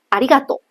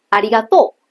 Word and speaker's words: ありがとう: 比如同样的一句谢谢，关东人说的是ありがとう，ありがとう，它是下挫的语调，而关西人